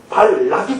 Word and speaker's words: 발락: 자기의 목적을이 주입시키고 조정하려는 발락이 등장을 합니다 이름을 조금 설명하고 넘어가겠습니다 발락이 하는 것은 히브리어로는 발락 이렇게 발음해야 되는데요 멸하는 자 공허한 자